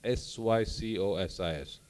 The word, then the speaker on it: sycosis: psychosis my dear friends is spelled as sycosis there is no p here there is no p in the psychosis it is s-y-c-o-s-sis it's only the p of the psychiatrist that is silent so let's uh not